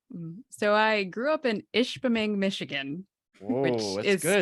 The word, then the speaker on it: Ishpeming: So I grew up in Ishpeming, Michigan. Whoa, which is good. spelled phonetically as it sounds.